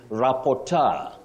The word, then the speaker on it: rapporteur: But remember, you can also say tour, just like rapporteur, rapporteur, and rapporteur.